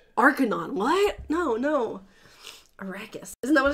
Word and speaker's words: Arrakis: There's not an in it. Arrakis. Arrakis! Is that what it is? What time is it on Arrakis right now? But you always put an N in it.